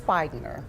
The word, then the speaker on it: Speigner: So Teresa, tell me how to pronounce your last name. It is Speigner.